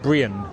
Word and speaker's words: Brean: I'll just say though, the locals here, the locals call it Brienne. Brienne. It's like two syllables, would you believe?